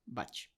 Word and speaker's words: Bach: música clásica pero eh el doctor Edward batch él era inglés era galés Y entonces en inglés se pronuncia Bach Pues él él dejó